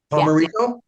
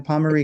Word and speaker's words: Pomerico: Hey, Pomerico or Pomerico? No, you said it right the first time. Pomerico.